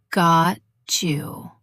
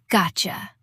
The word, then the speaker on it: Gotcha: It's not a slow got you, but a faster, smoother Gotcha.